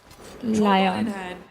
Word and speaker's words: Lion: लियोन भी 5th में है अभी. Lion are barely holding on and लियोन अच्छा लायन है उनका pronunciation. Lion.